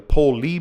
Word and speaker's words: POLE: Some call it the pole mutation or the poli mutation. heard different pronunciations, but it is the P O L E mutation.